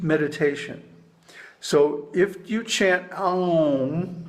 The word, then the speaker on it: Aum: The pranava, Aumkara, consists of 3.5 matras, or letters. A, U, and Ardha matra, the soundless half syllable. So that's why in the musical version, the Aum is very long. Aum, and a half beat of silence.